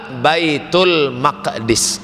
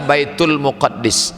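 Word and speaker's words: Bait al-Maqdis: Kalau pakai Albaitu Albaitul Muqaddas. Tapi kalau tak pakai Al Baitul maqdis. Nah, itu cara membacanya.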